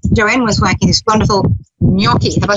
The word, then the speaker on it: gnocchi: the kitchen, and Joanne was making this wonderful gnocchi. Have I said it right this time? That's right, gnocchi.